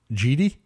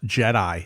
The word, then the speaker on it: Jedi: Wars well I think voice over reason is GD I'm like why uh like it's why is it saying GD so I actually went back and changed the pronunciation so it probably says Jedi not GD star Star Wars Episode 6 revenge